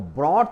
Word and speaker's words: brought: Bring यानी लाना, और ब्रॉट यानी लाया, पास्ट टेंस में ये वर्ड हो जाता है ब्रॉट यानी लाया। तो ब्रॉट में भी हमने देखा कि GH का उच्चारण नहीं होता।